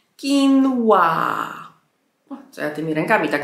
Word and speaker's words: quinoa: No i wymawia się to po angielsku quinoa.